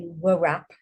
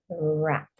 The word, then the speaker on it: wrap: if I could hose when you have these two letters together the W is silent so let's do WP a wrap so you don't say w wrap you say wrap that's silent let's do another one